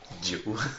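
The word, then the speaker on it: Djowe: Joe. The D is silent.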